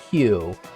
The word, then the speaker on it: queue: So if you've taken computer science in college, you would know that it's pronounced a Q.